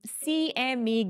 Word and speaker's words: CME: 50% of the um CME Gap okay I'm going to pronounce it correctly once for forever from now it's CME not s uh or whatever I